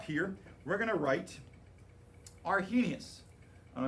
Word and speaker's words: Arrhenius: we're going to write argenius all right a r h is silent but i have to write it anyway i feel like